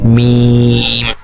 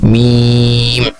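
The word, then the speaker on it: ميم: এর পরবর্তী যে অক্ষর সেটার নাম হচ্ছে মিম। অনেক লম্বা টান হবে, 4 আলিফ। আমরা উচ্চারণ করছি মিম।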